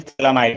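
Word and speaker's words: Phthalimide: Is named reaction Gabriel थैलामाइड reaction. तो Gabriel थैलामाइड reaction क्या होता है? एक चीज है, देखो यहाँ पे फोर्थ मेथड है हमारा गैब्रियल, GABR, गैब्रियल थैला, PH साइलेंट रहता है, गैब्रियल थैलामाइड रिएक्शन।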